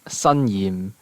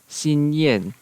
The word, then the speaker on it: Xinyan: And then we have Xinyan, which in Cantonese is Sanyim, Sanyim, and in Mandarin it's Xinyan, and in Japanese it's Xingyan.